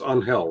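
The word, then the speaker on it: Ángel: if he wants to right but it's it's pronounced onhell right it's not Angel it's onhell well yeah all right well I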